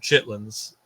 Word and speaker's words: chitterlings: not I've always heard chitlings yeah was chitterlings is it right is it really yeah that's not how people say it but chitlin is how you say it but it's I